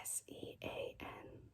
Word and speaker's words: Sean: like with a b i also don't like when it's spelled um s-e-a-n like the name s-e-a-n but you say sean where what part of that name sounds like sean to you there's no w there's no s h sound and names like